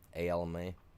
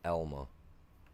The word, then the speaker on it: Alma: We used to they used to send them all the way to a little town called Elma, A-L-M-A, not Elma or Alma, it's Elma. That's how it's pronounced.